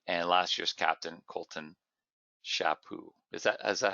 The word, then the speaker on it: Chaput: last year's captain, Colton Chaput. Is that how you pronounce it, Colton? Chaput, yeah. Okay, so it's like a French name.